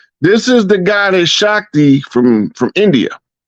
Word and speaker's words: Shakti: Arthur Basham, a well-known historian of India, wrote, "These themes of Shikti, how you say her name? Say that Shakti. name again, Rod. Shakti. It's pronounced Shakti. Shakti perhaps grew out of the conflict and eventually